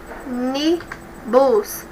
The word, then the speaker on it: ônibus: Olha, ônibus. A antepenúltima que é a mais forte.